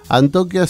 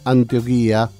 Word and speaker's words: Antioquia: que me dice Alfredo Antioquia se pronuncia sin no es antioquía es sin acento me dice parece que